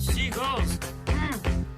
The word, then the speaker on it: Seagal: I said, seagulls, stop it now. That is how his name's pronounced. He's too cool to say it, so he switched it to Seagal.